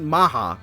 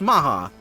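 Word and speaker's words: Mach: And yes, it They pronounce it Maha. It's Mark, but it's Maha.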